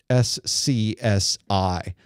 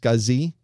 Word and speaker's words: SCSI: S-C-S-I. It's an odd name, isn't it, for something, especially an acronym. And it is pronounced SCSI, even though it's not exactly spelled that way, but it's close enough.